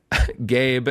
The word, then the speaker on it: Gabe: Gabe, and then I love they give a pronunciation key, and it just says, pronounce like the word gay. Then you add a B sound.